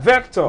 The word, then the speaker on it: Vector: same list he has a VEC or Vic how do you pronounce that vector vector vector correct and poi Poe yeah